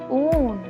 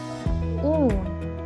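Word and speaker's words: ऊन: Next word is oo plus n. How to pronounce this together? Oon. Oon.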